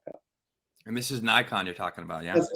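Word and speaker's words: Naikan: Yeah, that's Nikon. Yeah. Yeah. And that's spelled the N A I KN. Is that right? N A I K N. And it's pronounced like the camera Nikon.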